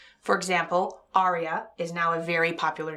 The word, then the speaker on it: Arya: Right, but they spell it like the character on Game of Thrones. Arya. Not Arya like a song.